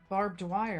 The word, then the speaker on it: Barb Dwyer: Barb Dwyer. Yeah, so it's like barbed wire.